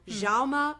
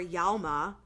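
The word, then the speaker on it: Jaume: by and this is I've heard this being pronounced multiple ways so Jama or Yama balaguero and Paco Plaza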